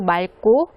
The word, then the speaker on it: 맑고: 경치도 아름다워서 유명해요 아 여기에서는 맑고 라고 발음을 하셔야 되겠죠 뒤에 여기 기억이 있는데요 뒤에도 기억이 있을 때는 앞에 것을 읽어 줘야 됩니다 점수가 매우 맑고 주변 경치도 매우 아름다워서